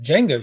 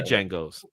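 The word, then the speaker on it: Django: he's currently doing uh the Jango series or is it the D Jango and my friend threw these the D silent the D is silent that's right I you'll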